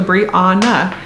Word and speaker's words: Brianna: Although I even spelled it phonetically, so it's BRE for Bree, AH for Ah, and then NA for Na. So Brianna.